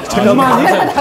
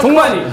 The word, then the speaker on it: 족만이: 이게 발음을 좀 조심해야 되는데. 어떤 건데? 이거는 순살 족발인데 이름은 종마니입니다. 카메라 나 꺼. 종만이. 종만이.